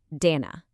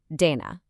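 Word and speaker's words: देना: This one is pronounced Dana. Now listen closely to that soft D sound. It's not a hard punchy English D.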